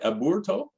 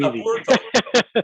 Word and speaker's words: Aburto: Aburto? People typically say Roberto Aburto, which is simple and easy. Aburto. Aburto is the Spanish pronunciation, but Roberto Aburto is the normal.